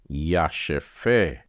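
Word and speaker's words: ישפה: आगे बढ़ेंगे हम लोग और यह है योद में आ की मात्रा या शन में नीचे दो बिंदु है तो उच्चारण सिर्फ श का रहेगा उसके बाद में फे है फे और उसके बाद में हे याश फे या शफे तो 20वां वचन जो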